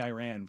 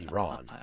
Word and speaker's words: Iran: It's more fun when you say Iran. No, because makes everybody. It's pronounced Iran.